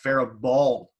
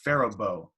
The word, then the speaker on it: Faribault: it's spelled f-a-r-i-b-a-u-l-t so it's spelled like we would pronounce it pharah ball but that's not what's pronounced it's pronounced farabo and i know there's